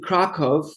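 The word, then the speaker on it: Kraków: and I pronounced it krakov instead of Krakow because that's how my father pronounced it you know that's the pronunciation in I guess polish obviously in Polish family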